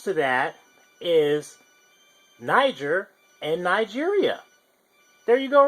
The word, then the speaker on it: Niger: that is Niger and Nigeria there you go right there some people pronounce this as but it's actually Niger so that that pretty